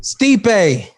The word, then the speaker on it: Stipe: Stipe. Damn it. And you mispronounced his last name. Miocic. Oh, No. Stipe? Miocic. I called him Steve every time.